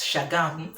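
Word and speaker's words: Shagamu: states camp in chatham spelled as chagamo were pronounced as shagami so i went to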